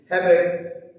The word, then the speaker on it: Habakkuk: You know, you look at it, it's not even pronounced the way we say it. It's Habakkuk, double K-U-K.